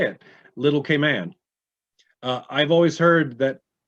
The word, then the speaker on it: Cayman: no it's grand cayman little k man and then if it's in the beginning as an adjective you can say cayman cayman brac and cayman islands but it's never munn ever and i didn't know